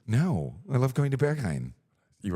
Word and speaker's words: Berghain: Wouldn't you say Berghein's? No, I love going to Berghain.